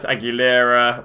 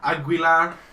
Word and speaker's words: Aguilar: Want to go get Bernat, Aguilera, the right back from Monaco. What's he actually called, Brooksy? Aguilar.